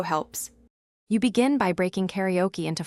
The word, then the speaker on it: karaoke: You should make the first an open ah sound, not I, because that preserves the original tone. Next, keep the o brief, no diphthong, so karaoke flows cleanly.